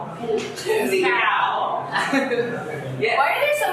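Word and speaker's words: สีขาว: ำ ส ี ด ำ ไ ว ้ ส ี ข า ว yes Why are there so many cows? ส ี แ ด ง ส ี ด ำ ส ี ด ำ ส ี ข า ว ส ี ข า ว You gotta have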